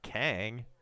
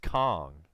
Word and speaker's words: Kang: apparently I'm mispronouncing it it's not Kang ka ng it is pronounced Kong with two two two